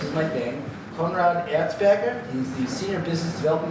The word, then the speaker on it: Konrad Erzberger: First presentation of the night is from, and again, mispronouncing names is my thing, Konrad Erzberger.